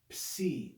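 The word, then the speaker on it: psi: through it okay that's c it's a double consonant transliterated with p s it makes the sound of the double consonants that's the greek c c and then the last letter number 24.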